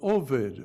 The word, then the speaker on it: Ovid: by the name of ovid ovid which incidentally rhymes with kovid i've googled him and